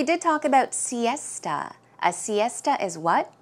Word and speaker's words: siesta: pronunciation is Siesta esta so it's more of a t sound Siesta one more time Siesta